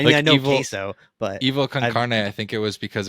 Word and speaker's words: Evil Con Carne: Evil Concarne. That's how you say it.